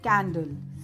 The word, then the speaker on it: candle: One more example, candle. C-A-N-D-L-E. It also follows the same rule, as C is not followed directly by E, I or Y, so it is pronounced as K.